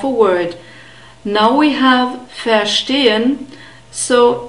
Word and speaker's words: verstehen: Verstehen, we have a long E sound. In the script we have an E and the colon, which means that it's a long vowel, and we have an unstressed E, so ich verstehe.